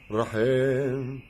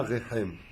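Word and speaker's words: רחם: Rahem, pas Rechem.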